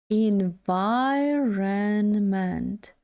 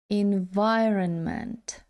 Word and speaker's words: environment: ось наша транскрипція склад наголос на другому складі environment environment environment якщо дуже швидко